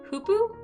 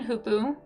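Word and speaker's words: hoopoe: Hoopoo? Hoopoo. Ooh as in goose.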